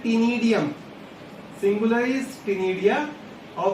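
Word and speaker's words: ctenidium: Word use करते हैं टीनिडियम। Singular is टीनिडिया और वी कॉल्ड इट टीनिडियम। तो जो टीनिडियम वर्ड होता है सी silent, that is for respiratory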